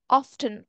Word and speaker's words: often: TV after dinner again often sometimes is pronounced with the T often or some people say